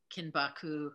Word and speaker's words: kinbaku: I love that, because in part one, you were talking a lot about words like shibari and kinbaku. Did I pronounce both of those?